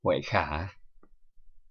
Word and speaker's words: Huệ Khả: Hui Ko in Vietnamese we pronounce Huệ Khả.